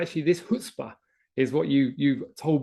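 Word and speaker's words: chutzpah: been to New York think of it as a stop sign in New York you can ignore it a recommendation but if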